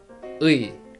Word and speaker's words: 의: I guess it is complicated for you because maybe you are not familiar with U sound, so it can be difficult to pronounce U sound very quickly and continue to pronounce E. U, E. U, E. If I pronounce it normal speed, that is 의, 의.